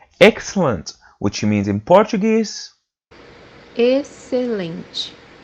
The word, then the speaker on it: excelente: táxi, táxi, The fourth pronunciation for this letter is pronounced as letter S in English when it's followed by a consonant.